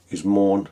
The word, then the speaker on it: Maen: It's called Maen. Well, I think the official pronunciation from what I've read is Moan, something like that.